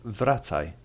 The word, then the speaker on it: wracaj: Therefore, the Polish W is pronounced like the V in the word vulture. An example of this letter being used in a word is wracaj, which means come back in English.